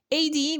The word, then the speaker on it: AD: AD viene del latín. Anodomini, cuya traducción literal es año del Señor, se pronuncia como dos letras separadas, A, D.